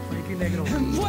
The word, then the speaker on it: Frankie Negron: This is Mike Sherman down here at the Circle House Studios with multi-platinum artist Frankie Negron. Am I saying it correctly? You said it. Frankie Negron.